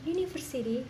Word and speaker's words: university: Karena pengucapan university tidak diawali dengan huruf vokal.